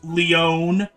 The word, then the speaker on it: Leon: from uh it's Stone it's pronounced Leone but that is correct